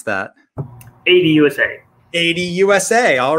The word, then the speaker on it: ADUSA: ADUSA Supply Chain Services, or how do you pronounce that? ADUSA.